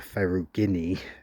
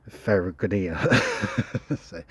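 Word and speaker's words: ferruginea: not telling me that I wasn't pronouncing the lamartia Ferro Guinea correctly I was calling it lamartia Ferro good here but yeah this thing's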